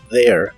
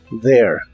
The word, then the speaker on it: there: Y usaremos la palabra there, que significa ahí. Igual la TH se pronuncia como una D vibrante. There, there.